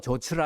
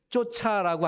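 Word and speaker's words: 좇다: 근데 발음들을 잘못하시는 분들이 많아요. 쫓아가노라라고 하는 얘기를 쫓아라고 하는 얘기로 발음을 하시는 분들이 많아요. 목사님들 중에서도 많아요. 앞으로는 쫓아가더라 그렇게 발음하시기 바랍니다.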